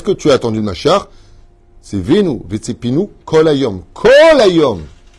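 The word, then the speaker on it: משיח: C'est pour ça que vous allez voir que le mot Mashiach ne peut pas se prononcer avec des lèvres qui vont vers la tristesse. Essayez de dire Mashiach tel qu'il est marqué en hébreu. Pas Messi.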